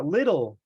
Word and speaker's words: little: like that no ah little little especially we had when we have when we have that Double T like that most of the times we it's pronounced like a d little little leader there